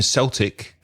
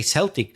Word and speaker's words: Celtic: have the football team Celtic right that's the only exception when it's to do with sport for some reason we should we say Celtic yeah Glasgow Celtic and also the Boston